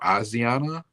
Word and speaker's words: Asiana: And then in 2013, I don't know if it's pronounced Asiana Airlines or Asiana. It's ASIA, like Asia, then NA.